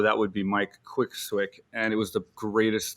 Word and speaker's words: Swick: One of the best to do it, Mike Quick. I hope I got the nickname right. Mike the Quick Easy. Swick. Yeah, that's it. That's It's Mike correct. Swick. Okay, Mike the Quick Swick. It rhymes.